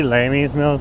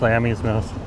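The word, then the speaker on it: Lamey's Mill: I always say Lamy's Mills, but it's pronounced Lammy's Mills.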